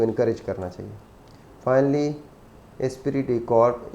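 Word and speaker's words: esprit de corps: Finally एस्पिरिट डी कॉर्प, इसको French word है, तो इसको जो मैंने देखा है इसका, तो यही इसका प्रोनाउंसिएशन बनता है, एस्पिरिट डी कॉर्प. Stressed building harmony and unity with in a firm.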